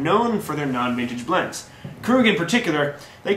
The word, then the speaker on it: Krug: name of the producer krug k-r-u-g pronounced crew okay they are a